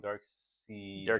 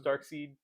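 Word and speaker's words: Darkseid: also thought it was dark seed yeah because it's SE right it's it's in the comic it's um yeah SE yeah it's it's not spelled phonetically the way you would spell dark side it it looks like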